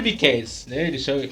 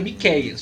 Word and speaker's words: Miquéias: eles não chama de miquéis Ainda mais agora que na nova ortografia no meu nome não tem mais acento então eles lê me qias que com acento fica Miqueias fica situada fala se